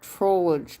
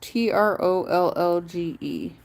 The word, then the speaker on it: Trollge: Am I saying it right? Troll. Troll or Trollage? I mean, there's no E between the L and the G, but Trollge.